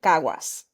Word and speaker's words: Caguas: I was born in Caguas. Okay. I tried to spell that phonetically, but I don't know how to spell anything phonetically.